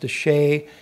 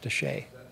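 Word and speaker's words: Chelly: be photographed yeah yes can't yes Canyon is pronounced Touche it's after the Spanish de capital CH e l ly but pronounced Touche no it's it's actually the oldest continuously settled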